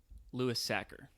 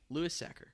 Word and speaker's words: Louis Sachar: It's actually Louis Sachar. Louis Sachar. As in someone like a sack of potatoes. Okay. Well, what have we always said? I feel like we've said... I always say Louis Sachar.